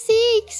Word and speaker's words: CEX: It's Seeks, right?